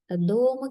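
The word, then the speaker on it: どうも: දෝම කියලා කියනවා. දෝම. මෙතන දෝ වලට ඌ එකක් ඇඩ් වෙලා තියෙන්නේ. මේකත් දෝම වවල් එකක් වෙනවා. දෝ උමෝ නෙමෙයි දෝම. දෝ කියලා ඇදෙනවා.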